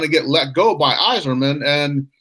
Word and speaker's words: Yzerman: to that cup one you notice I did pronounce his name Steve Yzerman I didn't go Bill Clinton like a 90